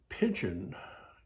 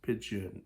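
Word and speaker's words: pidgin: ended up with this pigeon English you can look it up it's called it's spelled p i d g i n it's not you know like pigeon like the bird it's pigeon English I chose not to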